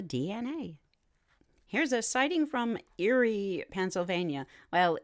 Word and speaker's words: Erie: here's a sighting from Erie Pennsylvania well they only spell it with one e e r i e but it still sounds like Eerie the date of this